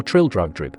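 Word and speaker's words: Trildrogdrib: It contained a warrant for conducting me and my retinue to Traldragdub, or Trildrugdrib, for it is pronounced both ways as near as I can remember, by a party of 10 horse.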